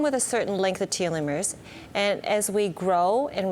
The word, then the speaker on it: telomeres: I still trip on that word telomeres.